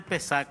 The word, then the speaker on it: Pesach: Seder de Pesach. Así se pronuncia, José.